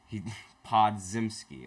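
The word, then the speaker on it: Podziemski: Podzimski. Okay, that's how you pronounce his name.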